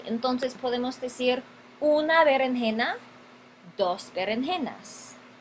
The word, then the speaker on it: berenjena: son berenjena no tenemos berenjena es una palabra llana énfasis en la penúltima sílaba berenjena palabra llana termina